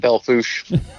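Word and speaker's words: Belle Fourche: He grew up also in Belfort. Is that the right way to say that? I always say the rednecks around here pronounce it Belfouche.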